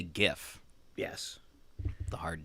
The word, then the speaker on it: GIF: last one is a gif pronounced with a hard or soft G oh see this is a in my opinion it's a hard G because it stands for graphics interchange format don't ask me how